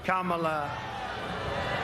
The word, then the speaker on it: Kamala: Kamala. Nobody treated He did pronounce her name right for the first time.